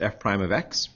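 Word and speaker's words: f′(x): pronounce as prime so this is pronounced f prime of x it's a new function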